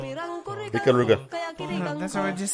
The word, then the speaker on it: Ikaruga: Ikiruga? Nope. How do you pronounce it? Ikaruga.